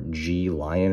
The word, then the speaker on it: Gelion: could tell, the Gelion, it's spelled Gel Ion, or G Lion, or whatever you want to say.